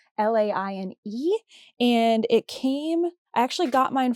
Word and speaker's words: Laine: I'm not even sure if Lane is the correct way to say that. It's Laine.